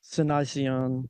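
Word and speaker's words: Cynoscion: Cynocian.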